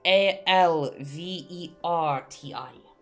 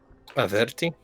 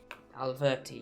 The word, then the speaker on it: Alverti: That is Alverti. Averti? Alverti, yes.